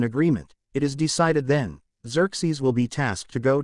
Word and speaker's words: Xerxes: Pronounced as Xerxes.